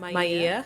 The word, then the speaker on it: Maya: um I'll start uh my name is Maya that is how you pronounce it um I'm looking forward